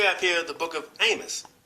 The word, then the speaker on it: Amos: So you have here Amos, right? It says, in the Old Testament, there is the book of Amos, pronounced Amo, A-H-M-O, Amo.